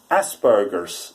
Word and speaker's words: Asperger's: And that is, I'm actually coming out to confirm that I have Asperger's syndrome, or Asperger's syndrome as it's commonly frequently pronounced as.